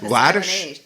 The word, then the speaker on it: Hladish: to the show Haddish is that how you pronounce laddish the H is silent I was making the